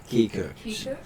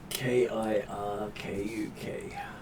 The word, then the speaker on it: Kirkuk: Kikirk? Yeah, just trying to read and pronounce it at the same time. Kikirk. Let's see. Kirkuk. Oh, K-U-K. K-I-R-K-U-K. Yep. Kirkuk.